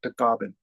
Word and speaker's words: Tagaban: And the Philippines is pronounced Tagaban. And my grandfather comes from Batak.